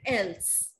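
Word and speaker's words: elles: to follow is that all the consonants that lie in the end of a verb, they are not pronounced. I will not say ils and else. What I will say? Il, el.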